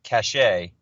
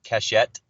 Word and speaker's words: cachet: name of the application uh the brand is cachet and sometimes we've had people mispronounce it as cachette so it's it's spelt cachet uh more of